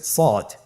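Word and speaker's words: صاد: শুরুতে আমরা শুরু করছি সদ। সদ হরফটি পুর হরফ। মোটা হরফ উচ্চারণ ক্ষেত্রে মোটা করে পড়তে হবে এবং উচ্চারণ করার সময় তিন আলিফ টেনে পড়তে হবে।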